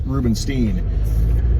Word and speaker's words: Rubenstein: Rubenstein I don't know it should be Stein and you pronounce it the German way but I think the Jewish pronunciation is Rubenstein and I only say